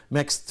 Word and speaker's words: mixed: ملاحظوا حاجه بقى، حرف التي هنا مش هنطقها سوري، حرف الدي انطقها تي، mixed with chemicals and bleached.